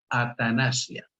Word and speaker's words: atanasia: Así se pronuncia en español, transliterándolo, atanasia, que quiere decir sin muerte.